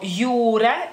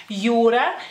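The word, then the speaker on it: jūra: también sino Jonas Jonas o por ejemplo yura ura que sería mar en femenino la palabra mar yura entonces este en el lituano la J tiene otro sonido que digamos que se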